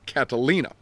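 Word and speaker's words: Catilina: name is Lucius sergius Catalina now it's spelled c a t i l i n a not like Catalina Island off the coast of California uh Catalina often we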